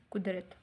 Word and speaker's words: قدرت: سے پہلا ہے بچوں قدرت، کاف پیش دال ریتے، قدرت۔ سب سے پہلا کیا لفظ ہے؟ قدرت۔ قدرت کے معنی کیا ہیں بچوں؟